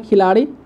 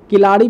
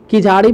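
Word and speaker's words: Keezhadi: है जिसका नाम है खिलाड़ी, ठीक है। एक्चुअली इसको किलाड़ी पढ़ा जाता है या फिर किझाड़ी पढ़ा जाता है, तमिलनाडु तमिल लैंग्वेज का वर्ड काफ़ी प्रोनाउंस करना प्रॉब्लम होता है, ठीक है।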